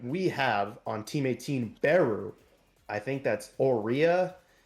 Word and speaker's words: XIIX: We've got the 10th ranked team here, Team 18. I just learned how to pronounce it. I've been pronouncing it X IIIX this entire time.